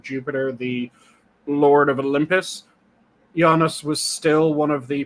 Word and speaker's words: Janus: Janus, who was the original, and I'm using the more correct Latinate pronunciation. You might be familiar with it as Janus.